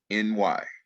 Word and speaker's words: Hefni: It's spelled, and I may have been pronouncing it wrong, but it's Hefny.